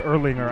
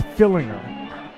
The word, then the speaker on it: Fillinger: I don't think it's Erlinger. I think it's Fillinger.